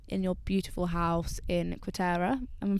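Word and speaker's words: Quarteira: And luckily we have been able to come to Portugal this year in your beautiful house in Quatera. Am I pronouncing that correctly?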